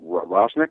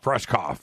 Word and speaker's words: Rushkoff: So I finally caught Monday's show with, what was it, Rosnick? Rushkrick? I'm not pronouncing his name. Rushkoff.